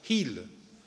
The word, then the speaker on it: hil: En el sur del país decimos hil, sin H, pero en el norte del país todavía pronuncian la H, hil.